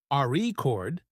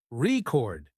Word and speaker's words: record: that's true for example in the word record if you stress the first syllable AR chord it's a noun but if you stress the second syllable record it's a verb practicing stress and intonation